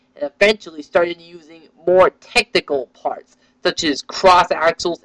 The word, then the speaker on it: Technic: eventually started using more technical Parts such as cross axles and gears this theme is called Technic or some people pronounce technique this theme is still